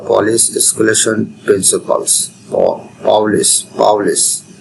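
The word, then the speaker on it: Pauli: এরপরে পলিস বর্জন নীতি বা পলিস স্কুলেশন প্রিন্সিপালস পাউলিস পাউলিস উচ্চারণটা যেভাবে জেনিতে পারে পাউলের বর্জননীতি পাউলি পাউলিস এক্সপলেশন প্রিন্সিপাল আমরা কষেত্রে পলির বর্জনীতি বলি আসলে পলি হবে না পাওলি হবে বা পলিস হবে বুঝতে পারলেই হবে এই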